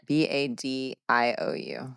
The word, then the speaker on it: Badiou: It's because the title is derived from French philosopher Alain Badiou. Did I say it right? How how do you spell it? B A D I O U.